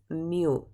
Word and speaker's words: mu: is the symbol for it, and it is pronounced mu.